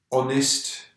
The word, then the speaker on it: honest: And normally we pronounce the H, but with heir we don't pronounce the H. Certain exceptions, we don't pronounce the H. Heir is one. Honest is another.